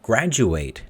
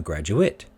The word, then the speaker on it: graduate: the ate eight endings verbs ending with ate or pronounced as eight nouns adjectives and adverbs though pronounced as it and we can see this i will graduate next year i am a graduate same spelling different sounds though i will graduate